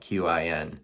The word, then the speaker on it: Qin: The first one was the Qin Dynasty, and it's spelled Qin.